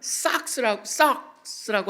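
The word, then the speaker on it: σάρξ: 근데 이거랑 굉장히 차이가 있는 게 뭐냐면 삭스라고 하는 단어입니다. 꼭 양말같이 들리는데 스펠링은 다릅니다.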